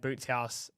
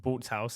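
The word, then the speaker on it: Bootshaus: um and even that for example I played boots house I played there twice now I played the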